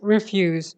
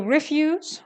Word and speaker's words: refuse: blah okay so that's refused i just wanted to share this so refuse when it's pronounced refuse it means things you don't want discarded stuff and refuse means not to want to do something all right so back